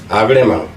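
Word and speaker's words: agrément: 주고 요놈도 주고 근데 이거는 발음할 때도 아그레망 이렇게 합니다 프랑스 쪽에서 와서 그래요 프랑스 애들 싫어 농담을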